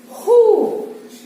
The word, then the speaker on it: who: How, how far, who, whom, whose. இந்த இடத்துல W is silent.